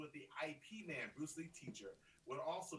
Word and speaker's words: Ip Man: Nina is yelling at us right now to say it's Ip Man, not IP Man.